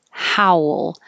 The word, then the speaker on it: howl: wolf wolf wolf woof howl it doesn't have to be two syllables but how your lips get small for the ooh how will and then kind of come back for the l howl this is i